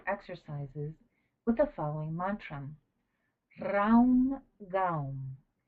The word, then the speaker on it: Raum Gaum: It is urgent to combine the retrospective exercises with the following mantra: Raum Gaum. Each word is divided into 2 syllables. Ra Om Ga Om. One should accentuate the vowel O.